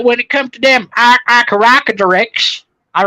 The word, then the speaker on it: Archaeopteryx: Is Von Helton the one who couldn't pronounce Archaeopteryx? He said Opteropteryx.